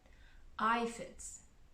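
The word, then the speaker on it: aphid: sad day when the ifits pronounced ifit arrived they are some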